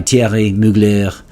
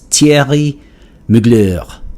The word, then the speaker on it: Thierry Mugler: If my French pronunciation is at all close, it looks like Thierry Mugler. And so, of course, it goes without saying that a lot of people will just simply say Thierry Mugler.